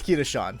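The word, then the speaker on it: Kashan: I pronounce his name it's kah Shan so yeah yeah everyone calls me everyone calls me Sean so whatever you feel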